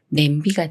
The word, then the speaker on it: 냄비: 다음에 비라는 말이 와서 냄비가 되는데요 미음 받침이 비읍 만나지만 쌍 비읍이라 비읍 소리 그대로인 브로 읽어요 냄비 냄비 예문 읽어